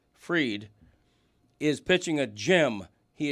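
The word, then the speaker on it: Fried: Okay, the pitcher for the Yankees, Max pronounced Freed is pitching a gym.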